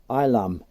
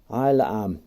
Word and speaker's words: Isleham: right so we've done this is called ilum I'll um so you've got silent s i lamb so we're coming